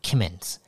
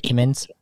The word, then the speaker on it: Kimmons: That's how you pronounce it, right? Kimmons? Yeah, Kimmons, yep.